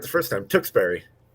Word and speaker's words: Tewksbury: of a sudden they get like sophisticated things tewksbury no i'm going to say it yeah it is actually john you were right the first time tewksbury that's what jt said gloucester yeah yeah